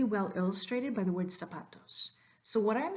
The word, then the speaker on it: zapatos: illustrated by the word zapatos so what I'm saying here is that the initial letter Z sounds like an S and the final s